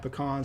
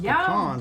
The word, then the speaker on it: pecan: Or glazed into pralines, you'll often find pecans at a Southern Thanksgiving. It's also worth noting that it's pronounced pecans when talking about just the nuts, but if you're talking about a pie, it's a pecan pie.